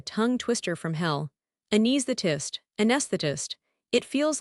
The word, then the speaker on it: anesthetist: I want you to try saying this word anesthetist. Oh no, that word looks like a tongue twister from hell. Anesthetist. Anesthetist.